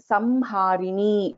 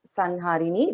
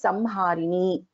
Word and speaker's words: संहारिणी: So this is the Anuswara, and the letter after the Anuswara is also Ha. So we pronounce this as Samharini, not as Sanharini. It is Samharini.